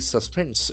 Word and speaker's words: suspend: We can see the accent force on the second syllable. Suspend. Suspend.